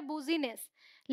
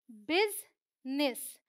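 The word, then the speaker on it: business: अगर ध्यान देंगे तो यह पढ़ने में अगर पढ़ने की कोशिश करें एज इट इज तो यह हो जाता है बुजीनेसवेयर लेकिन यह है बिजनेस तो यह कह सकते हैं कि ये आई साइलेंट है और इसको आई की तरह ही पढ़ा जाता है ऐसे बिजनेस ऑल राइट ध्यान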